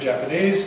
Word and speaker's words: Japanese: So we see this if we compare Japan, Japan, Japan, Japan, with the adjective Japanese. Japanese. Notice the vowels.